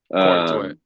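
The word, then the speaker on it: Corenswet: Corn sweat. Corn sweat. Corn sweat. Well, it's spelled C O R N.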